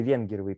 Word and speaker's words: Венгерова: То есть, например, есть совершенно чудесная книжка Полины Венгеровой, Венгеровой правильно произносится ее фамилия.